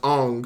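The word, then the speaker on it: Aang: he was like oh traditionally the name is pronounced on so we're going to have him called on and it did nothing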